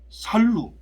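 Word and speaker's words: Sallu: 다음에 이제 베냐민 지파를 보게 되면 살루, 로가 아니고 루예요.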